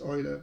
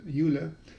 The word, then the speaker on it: Euler: generate prime numbers and a very famous mathematician euler or euler depending how you pronounce it um it's actually pronounced euler but most people now say euler so he came up with a polynomial n squared minus n plus 41.